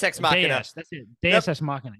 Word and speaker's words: Deus Ex Machina: Deus Ex Machina. Yeah, that's how you say it.